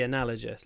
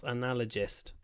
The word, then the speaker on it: analogous: what else can be analogous let's have a quick look and just uh with nouns oh an analogous case oh didn't work try again it was an analogous case not analogist analogous analogous anyway analogous and